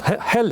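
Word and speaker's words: Halley: Ed Hal you know Comet Hal Hal is Comet hel hel different pronunciations yeah in Great Britain and the United States yeah uh like Bernard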